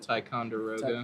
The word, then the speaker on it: Ticonderoga: Ticonderoga.